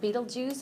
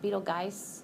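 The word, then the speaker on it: Betelgeuse: I pronounce it Beetlejuice. I've also heard it, you know, just like the show. I've also heard it pronounced Beetlegeist.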